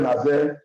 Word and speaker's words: Nazaire: Nous pouvons, j'ai retrouvé maintenant la formulation, la prononciation correcte de Nazaire.